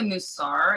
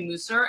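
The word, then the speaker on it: Mussar: And, you know, I say the Musar, and you say Musar, and I noticed that there's two different schools of thought.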